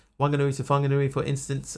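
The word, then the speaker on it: Whanganui: places they say that you should pronounce something like Wanganui Wanganui with an F sound. Now it used to be just with a W. Wanganui, but now they're saying it should be an F.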